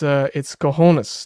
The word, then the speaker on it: cojones: Sorry over the mispronunciation. It's cojones, Tom.